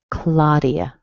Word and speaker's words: Claudia: If you see an AU spelling in English, you're probably going to say ah. So I don't know how you would say your name, maybe Claudia or something, but in English it's Claudia. Claudia.